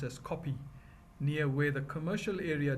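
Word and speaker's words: Kopje: The name Harare derives from the Shona chieftain Nirwana, who with his people occupied the area known as the Kope, pronounced as Kopi, near where the commercial area developed.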